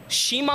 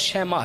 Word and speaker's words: شیماء: بہن ہے حضرت شیماء، شیمہ پڑھا جاتا ہے، صحیح تلفظ شیماء ہے۔ چونکہ یہ بھی اسی